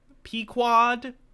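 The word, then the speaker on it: Pequod: I only ever read p-quad how do you how do you pronounce the name of Captain Ahab the ship never seen a movie version of it P quad correct okay the crew followed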